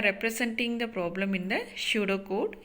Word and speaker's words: pseudocode: So similarly we are representing the problem in the pseudocode. pseudocode-ல P வந்து silent, அதனால தான் அதை என்ன ப்ரொனவுன்ஸ் பண்ணுறோம், pseudocode-ன்னு சொல்லி ப்ரொனவுன்ஸ் பண்ணுறோம்.